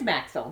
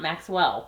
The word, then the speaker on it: Maxell: It is Maxell, not Maxwell. Oh, it's not coffee.